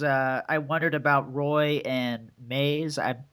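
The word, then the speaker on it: Maes: I wondered about Roy and Maze. It's spelled M-A-E-S. That's Maze. Yeah, that's Maze.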